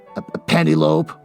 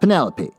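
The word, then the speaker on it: Penelope: you pronounce your name Penny lope why you're not pronouncing your name right uh do you realize that you're saying Penny like a pasta and lope like a dog running across field Penny it gave me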